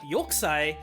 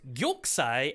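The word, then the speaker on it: 玉砕: Like, two other very specific things that get dropped in this movie are Yokusai and Tokubetsu Koge Kitai. Apologies everyone, it's actually pronounced Gyokusai and Tokubetsu Kogekitai.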